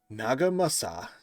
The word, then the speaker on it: Nagamasa: could find him afterwards Naga Masa no no Naga no that was right nagamasa I feel like I'm saying that wrong but I'm saying it correctly nagamasa led a search